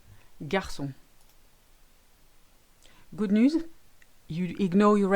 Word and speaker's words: garçon: That little squiggle called the cedilla is made to give the C an S sound. So maçon, français, garçon.